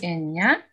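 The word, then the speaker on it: εννιά: Ударение на а. Экоси эння.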